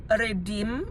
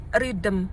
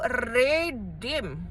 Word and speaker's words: redeem: Cara bacanya itu redem ya, bukan ridem kebalik. Redem bukan ridm ya redem ya kan dia double e ya. Ya tapi gitu kalau aku udah koreksi di kasir ridm bu ya. Cara bacanya adalah redeem.